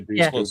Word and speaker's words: Dushku: Yes, she was with Elijah Dushku. Yes. I say it right. Yep. I think you Close got it right. Elijah Dushku, better known for Buffy and Angel.